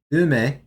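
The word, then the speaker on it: 梅: I like how here it's saying, yes, this is pronounced ume, which is plum.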